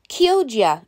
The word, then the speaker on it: Chioggia: for the 85th seed not sure how to say it chayoga chogya chop there's the name those are the beats okay i looked it up kyoja is a pronunciation on my last beat